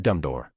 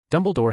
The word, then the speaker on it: Dumbledore: Wade purposely mispronounced Dumbledore's name because Mrs. Cole had made the same mistake when she introduced him earlier. Dumbledore helplessly corrected him. Actually, my name is Dumbledore.